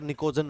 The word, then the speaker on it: निकोजन: नाम है निकोजन family P एन आई सी ओ जीी ई एन P silent है और निकोजन उसको उसको कहा गया है यह फर्टिलाइजर में